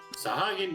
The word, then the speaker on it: Sahagin: Did I pronounce that right? Sahagin, yep, that's correct.